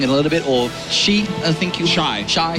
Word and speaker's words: XY: We've got XY, who will be playing in a little bit, or Shi, I think you... Shy. Shy. Shy is actually how you say it.